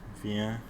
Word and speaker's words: viens: And il, elle, is also viens. They're pronounced the same, even though there's an S and T at the end.